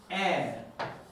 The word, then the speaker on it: heir: It's an air. Do you remember pronunciation?